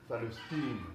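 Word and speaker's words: فلسطين: And in Arabic, it's Palestine, Palestine, Palestine, with this big, heavy, thick T that's in the front of the mouth.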